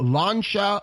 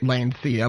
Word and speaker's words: Lancia: such as fiat uh lancia or as i like to say lancia but i know that's not how it's pronounced um alfa romeo and